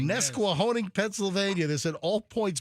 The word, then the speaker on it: Nesquehoning: I can't even pronounce this. Nesquehoning? Oh, Nesquehoning. Nesquehoning, yes.